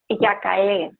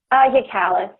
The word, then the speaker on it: Giakalli: Giakalli.